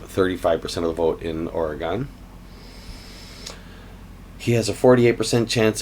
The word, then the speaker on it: Oregon: Who will win the Oregon primary? Now, I say Oregon. I think most of the people there pronounce it Oregon. I'm sure there are variations both within and without the area, but who will win the Oregon primary?